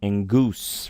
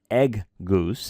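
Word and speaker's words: ἐγγύς: gamas together in Greek it's pronounced like an in sound so this is pronounced engus right like a in sound it's not egg Goose it's Inus and also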